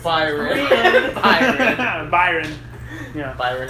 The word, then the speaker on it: Byron: Well, we haven't been saying it correctly, but now. It's Byron.